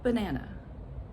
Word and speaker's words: banana: So for example, in the word banana, that's our famous example. The first syllable and the third syllable are unstressed and they have the schwa sound, but, and it's so quick, banana, banana.